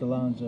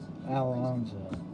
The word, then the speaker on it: Alonso: um you said alonso it's pronounced alonso you sold alonzo i didn't see your